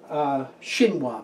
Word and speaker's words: chinois: Chinois, pronounced Chinois, spelled C-H-I-N-O-I-S, Chinois.